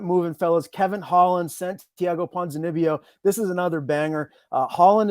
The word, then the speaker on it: Ponzinibbio: Yeah, Santiago Ponzinibbio.